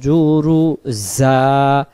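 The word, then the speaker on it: جرزا: সাইদান জুরুজা, জুরুজা, জুরুজা, জুরুজা যেন না হয় এটা, জিম যেন না হয় এটা হলো জা।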